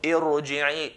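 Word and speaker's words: ارجعي: of the connecting alif, we're going to pronounce ra in a heavy manner. So irji'i, irji'i, irji'i.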